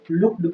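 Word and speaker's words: looked: लुक्ड में आपने देखा ईडी से समाप्त होता है, इसलिए ई को नहीं पढ़ते हैं, इसको लुक्ड पढ़ा जाता है।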